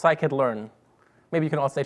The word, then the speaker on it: scikit-learn: that my you anymore and also it's it's pronounced I could learn maybe you can all stay together so I could learn okay there's a lot of people mispronouncing your